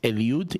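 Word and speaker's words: Eliud: Bible as Hebrew, but you can also pronounce it in Spanish, it's Elude. E L I U D.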